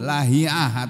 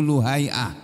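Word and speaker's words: Lahi'ah: kami yang bernama Ibnu Lahiah atau Ibnu Luhaiah. Ada yang membaca Lahiah, ada yang membacanya Luhaiah.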